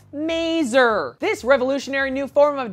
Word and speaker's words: maser: Yes, I pronounced it correctly, mazer.